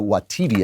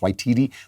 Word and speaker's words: Waititi: One of the people who won an Oscar was Taika Waititi, I think it's pronounced Waititi, who made that Jojo Rabbit, which was a comedy about the Nazis.